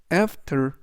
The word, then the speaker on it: after: 뜻이 되겠습니다 이번 단어는 after after after이라고 발음하시면 되겠고요 이때 강세는 맨 앞에 있는 a 강세가 있습니다 품사는 전치사 또는 또